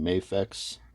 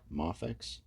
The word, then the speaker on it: Mafex: first ever mafix uh some saying mayx uh I believe the proper pronunciation is mafex but you know tomato